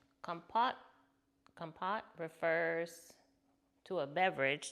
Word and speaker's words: Kompot: Okay, now let's see how to pronounce it. Compot.